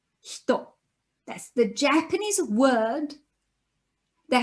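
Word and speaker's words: 人: In Japanese, this character would normally be read hito. That's the Japanese word that has the meaning of person. And therefore, the character that means person is read as hito.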